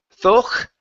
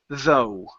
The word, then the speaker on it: though: ok so this word instead of saying folk ok the G H is silent the word is though no good so riding